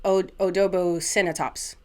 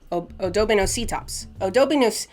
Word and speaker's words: Odobenocetops: Odobocinetops. Odobenocetops.